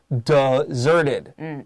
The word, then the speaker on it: deserted: And if we make it an adjective, the pronunciation changes a little bit. We go from desert to deserted.